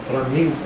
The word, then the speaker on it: flamingo: Flamingo. Flamingo. Mas no holandês, flamingo. Flamingo. Porque no G, né, espanhol.